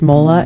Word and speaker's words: mole: Mole, pronounced mola, is one of Mexico's most complex and celebrated sauces.